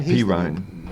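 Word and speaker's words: Perine: Perrine.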